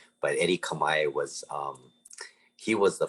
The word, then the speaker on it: Kamae: you know his last name is actually it's pronounced kamai but eddie kamae was um he was the first ukulele virtuoso